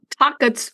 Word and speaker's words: takotsubos: Takotsubos I'll spell it for you it's t a k o t s u b o s Takotsubos.